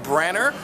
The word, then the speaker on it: Branagh: We just saw the brand new Marvel Comics adaptation directed by Kenneth Branagh, known for a lot of Shakespeare movies, and yes, that's how you fucking pronounce it.